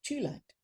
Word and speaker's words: Thulite: And we've got a gorgeous coloured crystal today, and this is Thulite. Now, if you wanted to pronounce it the Swedish way, you would say Thulite.